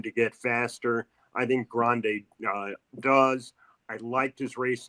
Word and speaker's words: Grande: Grande. Like in the Rio Grande River.